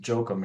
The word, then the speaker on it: Jochum: Jochum is a German name, pronounced Jochum in Germany, obviously, but my parents always insisted that we pronounce it Jochum here, so and probably had something to do with being in the States.